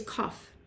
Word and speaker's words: qof: months of Adar is kough it's spelled qof or KU UF and it's the Q like our Q for Queen but it's more of a k sound like C for king and the pictograph the